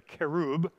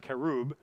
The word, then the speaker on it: cherub: And so then the glory of the Lord of Israel ascended up from the cherub, or the kerub, Remember, cherub is their English pronunciation, but it's pronounced kerub.